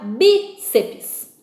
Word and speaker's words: bíceps: Aqui nós temos a palavra bíceps. Bíceps. É uma dissílaba, tá? Só tem 2 sílabas aqui. Bíceps. Então, nós temos terminação em PS. Última sílaba, penúltima sílaba. Então, sílaba tônica acentuada.